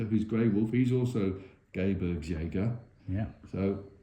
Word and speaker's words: Gebirgsjäger: Now, if I can pronounce it, Gebirgsjäger. Is that right? Gebirgsjäger, yeah. Gebirgsjäger, the veteran ski mountain troops.